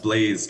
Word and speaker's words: Blaze: pronouncing this right but is it the Blas Transit is that pronounced correctly uh Blaze Transit yes Blaze all right thank you